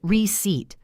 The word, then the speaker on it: receipt: You say receipt. The P is just there, doing nothing.